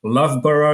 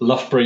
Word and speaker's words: Loughborough: He holds a master in engineering and systems engineering from the Loughborough University, as I was told it's pronounced.